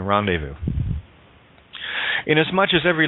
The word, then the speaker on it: rendezvous: a hard s say Z is silent in rendezvous in as much as